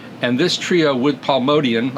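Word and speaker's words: Motian: this Trio with pal modian I feel funny saying modian but that is the correct pronounciation modian is really the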